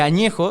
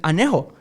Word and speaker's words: añejo: tequila pronuncian tequila y en vez de añejo dicen anejo y la gente se